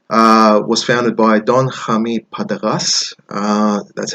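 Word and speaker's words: Partagás: So Partagas was founded by Don Jaime Partagas.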